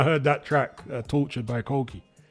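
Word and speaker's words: Coki: So I'm going to call him Koki.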